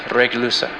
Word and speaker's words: Regulus: Leo's brightest star is pronounced Regulusa, and Ursa Major's brightest star is pronounced Alioth.